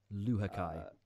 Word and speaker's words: Luhukay: Luhukay. So yeah, the end bit is Kai, and then everything before is kind of open to interpretation, I guess.